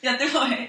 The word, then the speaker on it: Göteborg: In Sweden, Göteborg. Göteborg. Göteborg. Am I saying it right? Yeah, you're saying right.